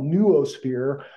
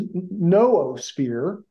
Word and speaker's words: noosphere: Now, let me just make an aside about the pronunciation of what I call noosphere, you know, the N-double-O. It's a little bit, I kind of pronounce it like you would zoological.